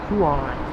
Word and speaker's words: Kauai: chain because it's so beautiful some freaking rain pronounced Kauai there you go thank you Stephen thank you